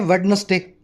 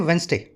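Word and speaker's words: Wednesday: जैसे कई लोग बोलते हैं वेडनेसडे, वेडनेसडे। अब वेडनेसडे में जो डी है ना वो साइलेंट है, अपने बोलते हैं वेंसडे, वेंसडे, ठीक है।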